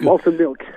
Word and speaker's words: Malted Milk: Alors Arnaud, donc Fradin du groupe Malted Milk, moi je vais le prononcer quand même à l'anglaise ou à l'américaine. Bah oui, carrément. Donc Malted Milk.